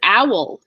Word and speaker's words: owl: is two syllables right how many syllables is Owl you think of owl as being one syllable because it's three lettuce right but it's owl it has a dark L at the end so that dark L is its own syllable so we have this